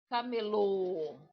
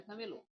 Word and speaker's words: camelô: Este acento ele é um acento fechado. Ele fecha.